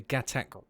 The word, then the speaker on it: Gatac: The Gatac Railen, if that's how you say it.